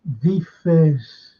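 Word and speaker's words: Wirtz: It begins with a W, but you always pronounce it with a V. And it's V-Fizz.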